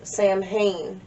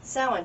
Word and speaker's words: Samhain: like that so i always thought it was samhain that's how i always saw it written because that's how it's pronounced in movies and about 20 years ago somebody did say sound to me and i went crazy [ __